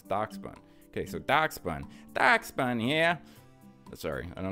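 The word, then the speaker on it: Dachsbun: It's not Dashbun, it's Doxbun. You know who you are. Thank you for correcting me. It's Doxbun, right? Yeah, Doxbun. It's Doxbun. It's not Dashbun. It's Doxbun. Okay, so Doxbun.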